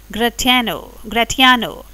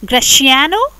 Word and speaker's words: Gratiano: There are some friends of Antonio: Bassanio, Salanio, Solario, Gratiano. You can also pronounce this as Graciano or Gratiano.